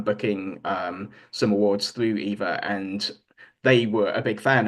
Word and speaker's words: EVA: you're at an EVA Air Lounge they will pronounce it as Eva which to me seems bizarre so I always still pronounce it Eva but they actually say missed opportunity for something